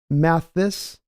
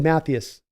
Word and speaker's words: Mathis: uh Jeff says uh it's pronounced Mathis there we go yeah it's German last name laughing out loud now go back to football so I got it right oh it's not I did matthus it's just Mattis Mattis